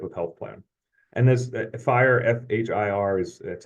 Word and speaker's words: FHIR: a certain type of Health Plan and this fire fhir is that's how it's pronounced is basically a way to do interoperability